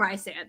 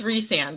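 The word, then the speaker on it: Rhysand: we're gonna call him Ry sand it's not reand whatever that you know that that argument oh yeah and it's reand right it's supposedly reand but I think Ry sand sounds better rice sand yeah it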